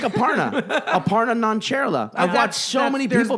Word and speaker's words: Aparna Nancherla: name ninja - ninja - like a partner Aparna nancherla I watch so many people be like no Aparna nonchalant like every comedian still says Hasan Minhaj when